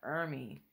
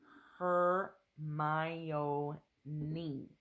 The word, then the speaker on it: Hermione: say her name properly he kept calling her hery hery own herion her may she said said slowly and clearly her close enough she